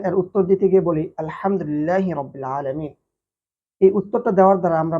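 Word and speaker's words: الحمد لله رب العالمين: আমরা যখন এর সঠিক উচ্চারণ আলহামদুলিল্লাহি রাব্বিল আলামীন বলি তখন এর অর্থ দ্বারা সমস্ত প্রশংসা বিশ্বজগতের প্রতিপালক আল্লাহ সুবহানাহুওয়া তাআলার জন্য। কিন্তু যখন এখানে আমি ভুল উচ্চারণ করি আলহামদুলিল্লাহি রাব্বিল আলামীন বলি তখন এর অর্থ দ্বারা সকল নিন্দা সকল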